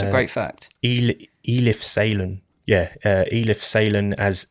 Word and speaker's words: Eli: It's the way it's spelt makes me want to say Eli. Yes. You boy, Eli. Yeah. It's Ellie, yeah? It's spelt Ellie. It's spelled Eli. Mm-hmm. We say it as Ellie. And then in the film, they say like Eli or something.